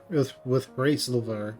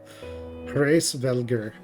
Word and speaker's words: Hraesvelgr: Our meeting with Hraesilver, with Hraesil, with Hraesvelgr will likely provide the catalyst for Fenn's gift.